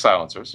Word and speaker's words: Silent-SR: silencer so Ruger makes silencers really did not know that yeah we did so we just got into the the game last year so it's a it's spelled silent-sr but we pronounce a silencer okay and uh it's